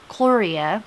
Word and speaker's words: Cluria: Cluria, C-L-U-R-I-A, Cluria Beck.